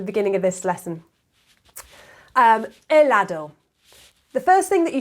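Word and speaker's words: helado: argentine ice cream yeah elado the h is silent it's never gelado like an ice cream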